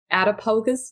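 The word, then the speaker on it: Attapulgus: may not even know where the but it's pronounced out of pocus Georgia and it's at that time I believe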